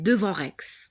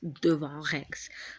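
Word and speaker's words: Devon Rex: Donc, on va voir un chat qui s'appelle Devant Rex. Devant Rex. Ça s'écrit avec D-E-V-O-N-R-E-X. C'est pas devant, ça veut dire devant nous, non.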